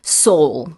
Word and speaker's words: sole: Soul. Soul. Yeah. How do you spell that? It's S-O-L-E, kind of like the sole of your foot, but it means the one and only, or so how single.